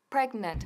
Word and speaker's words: pregnant: bien la g y la t breaking and pregnant repetir conmigo rain and pregnant muy bien en